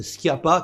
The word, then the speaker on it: Schiappa: qui est trop facile, même si on le prononce Schiappa, contrairement à Emmanuel Macron.